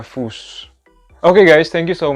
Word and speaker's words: Fuß: F-U double S atau scharfes S. Dan itu dibacanya S. Der Fuß.